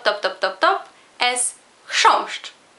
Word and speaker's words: chrząszcz: Y la palabra top, top, top, top, top es chrząszcz. Es una palabra monosilábica y bueno, solo tiene una vocal y entonces otra vez chrząszcz.